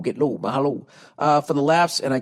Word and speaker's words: mahalo: Mahala? Is that how you say it? Mahala. Or is it mahalo? Mahala. Get low, mahalo.